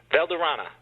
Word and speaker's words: Valderana: We're talking to an Alex, I'm going to ruin this, Valderana. How do you pronounce it?